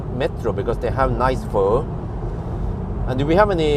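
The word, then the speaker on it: phở: to go to Metro because they have nice for and do we have any Vietnamese people here according to the Vietnamese people the way you pronounce it is fur full you know not not full of yeah I don't know how they but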